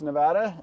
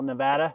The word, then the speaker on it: Nevada: do we yeah here we are in Sparks Nevada we're looking at the mod Van's uh brand new headquarters we moved everything out here to beautiful Nevada you got to say it right yeah Nevada